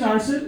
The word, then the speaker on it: Arsel: So, okay, my name is Arsel. It's spelled as A-R-S-E, Arse. L, okay?